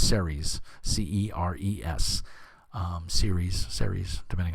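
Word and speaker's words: Ceres: uh campaign which is uh i think it's series c-e-r-e-s um series series depending on you yeah i'm from brooklyn so i don't pronounce anything right but uh yeah cool stuff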